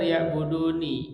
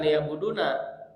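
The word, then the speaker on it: لِيَعْبُدُونِ: Kadang kan dibacanya li'buduni, bukan liyabuduna. Kalau liyabuduna itu enggak ada domirana. Kalau liyabuduni itu asalnya ada ya cuman dihilangkan ya. Iya. Mutasalim domir ana gitu dihilangkan tapi kemudian kasrahnya tetap dia'buduni.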